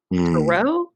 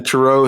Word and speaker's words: tarot: But the T is silent on the end. And, the tarot has been all over the world.